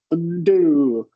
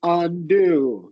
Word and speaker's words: undo: It's not functioning like awah. So it's always going to get some emphasis, right? It's not going to be undo. It's going to be undo. You give it a full articulation.